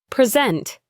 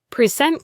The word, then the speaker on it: present: Present. Present.